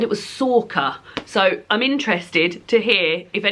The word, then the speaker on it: Sorcha: of this, tell me how the name Sorcha, which is spelled S-O-R-C-H-A, is said. Because I thought I said Sersha. Somebody told me that was wrong. It's spelt Sorcha, and then somebody else said it was Sorka.